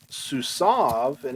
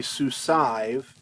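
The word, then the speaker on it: סוּסָיו: like sus and again this is usually pronounced i know you want to say su sive and that's fine if that's what you want to say i'm not going to count you off for that but this generally gets pronounced susan as if that yod were silent for whatever reason um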